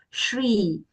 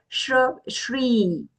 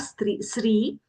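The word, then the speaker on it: श्री: Here it is Shri. As we know, the Shra itself is a joint consonant. The palatal Sh, right? The Shivavala Sha along with the Ra makes that Shra. So here Shri. Okay, it's not Sri, not the Sakara, not the dental Sa, but the palatal Sha has to come.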